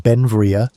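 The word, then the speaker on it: Beinn Bhreagh: Pronounced Benvia, Bel became an American citizen in 1882, but his name, meaning beautiful mountain in Scottish Gaelic, showed his Scottish heritage.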